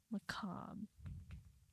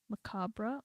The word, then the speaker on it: macabre: There's two different ways to pronounce macabre or macabre. Which way? It's like caramel versus caramel.